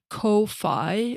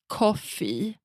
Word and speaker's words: Ko-fi: I want to pronounce it like Kofi, but I think you are supposed to pronounce it like coffee.